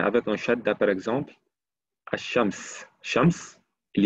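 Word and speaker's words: الشمس: Quand je dis Ash-Shams, non, je ne prononce pas la al.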